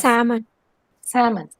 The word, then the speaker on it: salmon: Salmon. Which letter is silent? L.